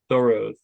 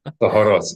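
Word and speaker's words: Tohorot: And the six seder thoro. Okay. Sorry. Theoros. Yeah. Usually if you have uh a three syllable word, you can assume the accent's on the last syllable.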